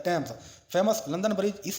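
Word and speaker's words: Thames: ये river modern नेम से थेम्स है जो कि टेम्स जो है ना प्रोनाउंस किया जाता है टेम्स।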